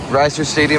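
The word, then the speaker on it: Reser Stadium: Outside Oregon State Stadium, Reiser Stadium, I think is how it's pronounced, here in Corvallis.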